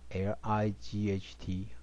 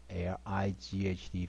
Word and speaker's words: light: 就发 line line，你们看到 line 哈，所以这是发 i 的音，双母音。好，我们接下来看下面的范例。第一个发 L I G H T IGHT 这个 GH 通常不发音，这个 I 呢发 I 的音啊， IGH 的时候通常都 GH 不发音，我们这念 LIGHT 发音发 light light 光线哈，像再来 NIGHT night night 一样